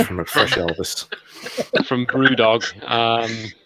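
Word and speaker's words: BrewDog: up near Aberdine uh called Brew dog which I like because it rhymes with st dog I was I was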